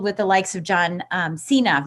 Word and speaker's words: Cena: where he wrestled with the likes of John Cena, right? Cena? Yeah, John Is that how you pronounce it?